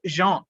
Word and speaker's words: Jean: அவரோட உண்மையான பேர் வந்து ஜான் பேப்டிஸ்ட் பொக்விலின், அதாவது JEAN, அது வந்து ஜான் அப்படின்னு ப்ரொனவுன்ஸ் பண்றோம்.